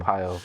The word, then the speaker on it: Arpaio: Hopefully I pronounce it correctly. Yeah, go for it. Joe Arpaio? Sheriff Joe Arpaio. Arpaio, right.